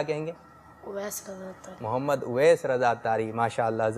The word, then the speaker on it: محمد اویس رضا اتاری: اس کا صحیح تلفظ ہے محمد اویس رضا اتاری.